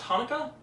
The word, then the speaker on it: Chanukah: No, I know, it says CH, but no, that's... Wait, it's pronounced Hanukkah?